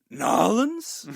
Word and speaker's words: New Orleans: you went down to, I believe the place is pronounced Nolans.